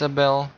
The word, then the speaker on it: Iesabel: 15 bucks uh yes AEL is is how you correctly pronounce it I know this because